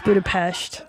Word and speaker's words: Budapest: didn't even say it right. It's Budapest.